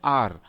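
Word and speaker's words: hour: अब देखिए एच से शुरू हो रहा है ये वर्ड, हाँ, आर शुरू हो रहा है एच से, लेकिन हम इसको प्रोनाउंस करते हैं आर, तो अ आ रहा है हमारा, ये ओवल साउंड हो गया, इसीलिए यहां पर हम लोग एन आर बोलेंगे।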